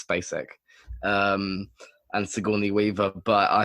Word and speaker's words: Spacek: I found out how to say it. It's Spacek.